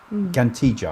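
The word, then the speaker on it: Ġgantija: Gantija, I think that's how it's pronounced. Double G at the beginning.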